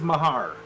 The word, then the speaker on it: Mahar: How do you say that, Ken? I have it as Mahar.